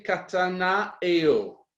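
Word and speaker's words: κατανοέω: le détail le mot le vert grec s'est prononcée katana et haut et ça signifie contempler attentivement fixer son regard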